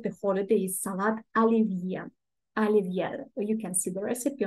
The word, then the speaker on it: Olivier: and fireworks too uh Olivier Alivia we pronounce it Alivia Alivia is a dish